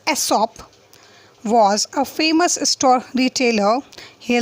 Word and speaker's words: Aesop: Aesop, pronounced Aesop, was a famous storyteller.